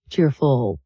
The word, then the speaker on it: cheerful: To pronounce it naturally, put the stress on the first part of the word cheerful.